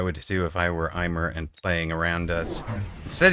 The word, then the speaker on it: aimer: Am I presumably pronouncing it terribly then? Closer to Amy.